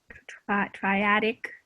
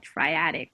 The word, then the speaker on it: triadic: together what's the what's the triangle color thing called again triatic yes this is called triadic and this one's called